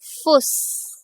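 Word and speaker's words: Fuß: आप यहां पर ध्यान से अगर देखोगे तो आपको यह पता चलेगा कि इसको हम प्रोनाउंस करेंगे एज फुस फुस व्हिच मींस फुट बस एक छोटी सी चीज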